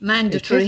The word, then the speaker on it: mandatory: So instead of articulating all of the middle of words, we shorten the middle syllables, and instead of saying mandatory, we say mandatory.